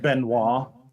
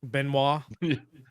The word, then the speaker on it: Benoist: didn't look at it benoit benoit i don't think so like chris yeah chris benoit uh i met disciples